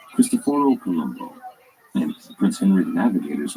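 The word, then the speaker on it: Cristoforo Colombo: about names and pronunciation see Christopher Columbus's name was not actually Christopher Columbus his name was actually as best as we know christophor Columbo and Prince Henry the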